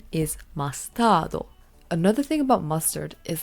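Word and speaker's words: マスタード: And the Japanese pronunciation is mastardo.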